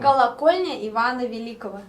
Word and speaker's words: Колокольня Ивана Великого: 이게 이반대제의 벨타워가 러시아 발음으로 있다라고 하는데 저는 발음을 못하겠습니다. 아, 조금 어렵습니다. 네. Колокольня Ивана Великого.